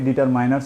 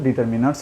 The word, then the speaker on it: determiners: এই যে আমরা লিখেছি ডিটারমিনার্স, যদিও আমরা অনেকে ডিটারমাইনার্স উচ্চারণ করি, তবে মূল উচ্চারণ তো ডিটারমিনার্স হবে।